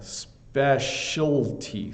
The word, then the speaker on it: specialty: specialty yeah you Peter you got to get the L in there specialty specialty um but that's